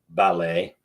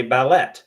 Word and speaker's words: ballet: There's a T on the end of that word. Well, why don't we say ballet instead of ballet? Well, I'll tell you why. Ballet is a French word.